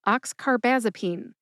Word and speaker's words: oxcarbazepine: All right, you put all five syllables together and you get oxcarbazipene. Emphasize ox and baz. Baz gets the most emphasis.